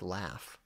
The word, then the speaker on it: laugh: was bad enough the the G H that makes the F sound like laughs but the silent G